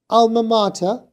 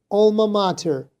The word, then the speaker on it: alma mater: The British one was alma mater, whereas the American was more like alma mater.